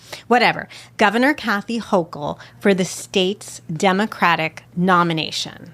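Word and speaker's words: Hochul: Am I saying it right? Hokll. It's Hokll, I believe. So, I thought it was Hoel. Wait, Hokll. Hokll is the way I hear it. Okay. I've always heard Hoel. Hokll. Okay, whatever.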